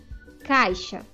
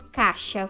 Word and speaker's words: caixa: é de outra maneira caixa muitas vezes nós falamos caixa é mas a maneira correta é caixa então muitas vezes nós falamos caixa tirando a vogal i mas a maneira correta